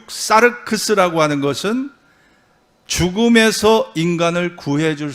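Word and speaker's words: σάρξ: 육이라는 것은요, 헬라 말로 사르크스, 또 혹은 사르크스라고도 발음을 합니다. 사르크스라는 건 뭘까요?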